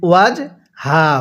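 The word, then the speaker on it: وجهه: হরফ তাহলে বালাম আসলামা এরপরে হাহু ওয়াজ হাহা হু দোনোটা হাই উচ্চারণের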